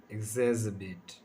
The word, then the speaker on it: exacerbate: इसका जो है ना, मैंने यहाँ पर फोनेटिक लिखा है, इसको शुद्ध उच्चारण क्या होता है, एग्जैस्पेरेट, एग्जैस्पेरेट।